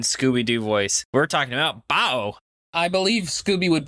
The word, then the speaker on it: Baoh: be saying in scooby-doo voice we're talking about bow i believe scooby would pronounce it raoul yeah i also want to